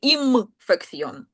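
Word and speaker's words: infección: А у них ім фекційон. І м таке сла. Угу. Через м вимовляється.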